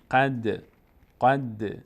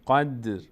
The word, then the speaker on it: قدر: این 5 حرف وقتی علامت ساکن دارن مقداری در هنگام تلفظ در مخرج اینها یعنی در محل تلفظ اینها صدا میلرزه. مثلا در این مثال الان قد نمیگیم قد نه قد ر کسره داره ولی چون در آخر آیه قرار گرفته.